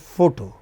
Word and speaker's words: photo: Similarly, you know, take this word photo. Only two syllables. Initial syllable is stressed.